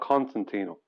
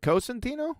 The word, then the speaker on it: Costantino: there you go and it's cotino not Constantino it's is it costantino really Neil yes am